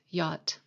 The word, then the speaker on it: yacht: you correctly spell yacht the sea is silent yacht i even have a